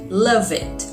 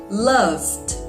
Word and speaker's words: loved: notice the difference exactly we don't pronounce the e in words that finish in e d one more time repeat